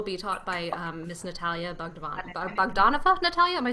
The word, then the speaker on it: Bogdanova: And Michelle will be taught by Miss Natalia Bogdanova.